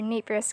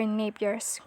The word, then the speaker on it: Napier: the euler's number or neighbor's constant i'm sorry i i pronounce it wrong it should be euler's number or napier's constant and the letter e